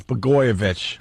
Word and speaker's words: Blagojevich: Blagojevich. Blagojevich. That seems pretty easy to say. Yeah, well, it's spelled weird, but they just call him Blago, or use the first 5 letters or whatever.